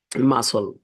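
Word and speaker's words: muscle: শরত একটি সুন্দর ঋতু 10 নাম্বারি মাসল এম ইউ এস এলই বলা যায় কিন্তু সি আছে এম ইউ এস সি এলই মাসল মাসল মানে পেশি তহলে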